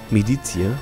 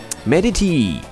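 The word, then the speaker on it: Meditie: sowas von im Arsch medizier oder medity medity so heißt so wird nämlich ausgesprochen mit seiner Zwiebel auf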